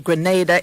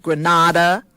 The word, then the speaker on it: Grenada: and a half before commentators on CBS could learn that Grenada is not Grenada which is in Spain to have how do